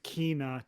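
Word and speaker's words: Kena: It's pronounced Kina. Don't mess this up, you idiot. And we all messed it up already, so you're it's covered. not Kana?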